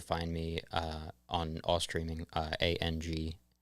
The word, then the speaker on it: ANG: You can find me on all streaming, ANG, pronounced Ang, or Ange, whatever you prefer.